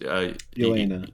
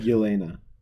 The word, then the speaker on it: Yelena: If I may make a comment, you're talking badly about Red Guardian and what's Elena. Elaine? Did I say it right? Yelena.